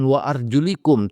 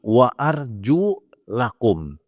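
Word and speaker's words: وَأَرْجُلَكُمْ: dalam al-quran wamsahu biruusikum bukan wa arjulikum tapi wa Arju lakum ya dia maktub maktub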